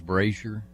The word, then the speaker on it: Brazier: queen well dq because my last name is brazier yeah and so people couldn't didn't know how to pronounce it if you're looking at it so i said well the sh sounds like a z and some guy goes